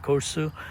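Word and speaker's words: Korçë: K O R C E. That's probably how they pronounce it. Corsu.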